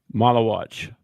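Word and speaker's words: Maluach: Malawatch. That's how they say it. That's how they say it on TV. I like Maldock better, but watch it.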